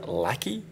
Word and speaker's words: LaCie: hard drive by a company called lackey l-a-c-i-e i believe that's how you pronounce it and it's got